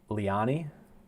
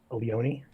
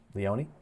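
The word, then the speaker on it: Leoni: Leani, I think is how you pronounce it. I could be wrong. Ryan, you are muted. Leone. Leone.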